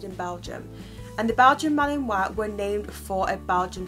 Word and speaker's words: Malinois: And the Belgian Mah-lin-wah were named for a Belgium city. The Belgian Mah-lin-wah, pronounced Mah-lin-wah, was developed in the Belgian city of Malinois.